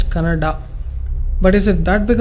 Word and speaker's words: Kannada: Once I saw a video where people were fighting whether it's Kannada or Kannada. People from North India should understand that it is pronounced as Kannada.